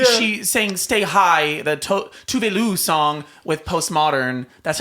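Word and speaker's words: Tove Lo: She sang Stay High, the Tuvelu song with Postmodern.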